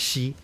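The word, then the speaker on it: 兮: She, this is pronounced she, X-I, right? She.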